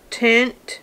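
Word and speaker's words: Tynt: box and i think the brand is called tint t-y-n-t um it says it's a haze smokey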